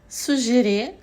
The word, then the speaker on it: suggérer: Suggérer, suggestion, on prononce de façon plus douce la G, à différence de bague, guerre, fatigué, où la G est plus dure.